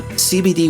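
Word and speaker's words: Seabedee: by the folks at cbd that's spelled s-e-a-b-e-d-e-e and they are providers of premium cbd wellness products now cbd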